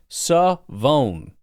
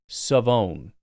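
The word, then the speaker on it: Shavon: First name pronounced Savone. SUH-VONE. Savone. So shove it in your pipe hole.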